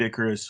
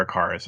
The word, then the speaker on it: Icarus: fantasies dragon war Kid Icarus was I always say is it Icarus or a carus I always say it wrong I would say Icarus